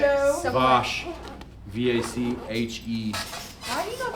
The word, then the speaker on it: vache: Pronunciation. You're weird. Well, the word for cow is like Weirdo. so. Vache.